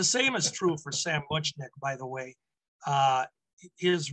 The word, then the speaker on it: Muchnick: him sam so sam much you said much nick i'm sorry the general no no no no that's why we're here we we learned this the general pronunciation was munchkin okay it's just more more the way it looks so sam he